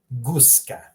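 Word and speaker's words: guska: you go I mean gusa notice how you pronounce the G in English Goose same way how you pronounce it in creation gusa Gina there you go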